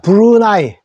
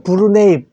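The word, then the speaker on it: Brunei: 되는가 자 브루나이 마지막이네요 자 브루나이 부 루 요거 네이가 되죠 브루네이 영어로는 브루네이 우리 로마자로 그대로면 브루네이 맞는데 우리는 브루나이 읽고 있습니다 브루나이 그래서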